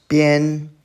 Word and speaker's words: 边: Bian, first tone.